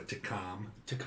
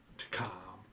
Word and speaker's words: Takam: Could be Taka, couldn't it? Takam. Well, The M is silent. Yes.